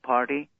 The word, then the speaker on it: Parti: My last name, it sounds like party in American pronunciation.